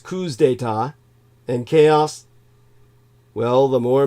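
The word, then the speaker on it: coups d'état: front line of coup d'etat the plural is pronounced coups data and chaos well the more misery and disorder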